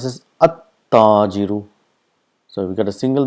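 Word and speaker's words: التاجر: It's at-tajiru, at-thawbu, ad-diku, az-zahabu, ar-rajulu, as-samaku. So this is how it is pronounced. The lam becomes silent.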